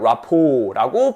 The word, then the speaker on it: rapport: 제가 보면요, 어떤 분들은 이 라포에 T를 발음하시는 분이 있어요. 하지만 T는 발음하지 않습니다. 발음한다고요? 안 한다고요. 라포라고 발음하고 T는 silence. 묵음입니다.